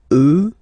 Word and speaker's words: eux: you get the sound remember, final X not pronounced, and then plural elle, elle. Okay, so let's see them one more time. Moi, toi, lui, elle, nous, vous, eux, elle.